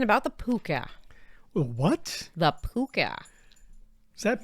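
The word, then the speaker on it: Púca: The Puca. Is that pronounced correctly?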